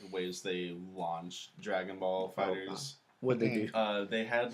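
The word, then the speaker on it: Dragon Ball FighterZ: You're pronouncing it wrong. No, it's Dragon Ball Fighters.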